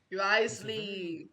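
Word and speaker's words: Wriothesley: administrator of the Fortress r risely I've been saying it wrong for so long that's crazy really sad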